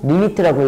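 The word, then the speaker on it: lim: L, I, M 리미트라고 읽어요. 림이 아니고 리미트라고 읽고 N아 엄청 커져라 이랬어요.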